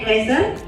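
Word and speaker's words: Glasser: atau lima lima menurut Dr William gler yaitu bacanya gler Bahwa kebutuhan dasar Mania itu ada lima Yang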